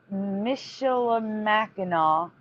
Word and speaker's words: Michilimackinac: So Michilimackinaw was the name of the natives, except now it's Michilimackinac.